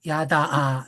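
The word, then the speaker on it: ידע: 그런데 내가 알지 못하는 나라, 너를 알지 못하는 나라, 이 알다라는 이 단어의 히브리어는 야다인데요. 야다아 이렇게 발음되는데 이게 경험하다라는 의미입니다.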